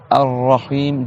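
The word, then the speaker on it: الرحيم: Ar-Rahim, deux ra, et on prolonge le I.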